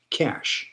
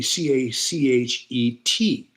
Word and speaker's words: cache: That is spelled That is pronounced cash, just like c a s h.